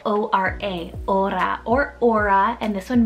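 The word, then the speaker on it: Ora: beautiful o name here next it's the name aura spell o-r-a aura or aura and this one means to pray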